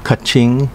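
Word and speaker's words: Katsuren: in 2005 with the merger of gushikawa ishikawa katsurang and yonogusuku pronounced gushicha ishicha kaching and yunangoshiku respectively in uchinanguchi it is the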